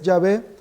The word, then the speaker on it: Yahvé: durará para siempre y ahí reconocen que la pronunciación más correcta es yahvé sin embargo ellos utilizan Jehová porque es muy